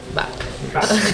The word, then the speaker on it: Baeck: Back. Yeah, maybe I said the last name wrong. I said Beck. It's It's actually it's back.